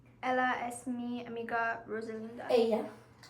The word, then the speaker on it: ella: Ella. When it's double L, you say E.